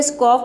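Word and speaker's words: scoff: तो सभी वर्ड में आप देख सकते हैं कि ए, सी के बाद इन तीनों लेटर में से कोई भी लेटर नहीं है। तो वहां पे हमें एस, सी को क्या प्रोनाउंस करना है? आधा, स और क प्रोनाउंस करना है।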